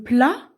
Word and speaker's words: plat: Le plat, attention, on ne prononce pas le T, plat, c'est quelque chose à manger.